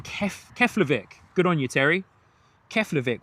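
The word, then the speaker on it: Keflavík: Terry saying Keflavik.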